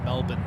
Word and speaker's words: Melbourne: for a long time the local way to sing off saying it is Melbourne Melbourne okay but it's uh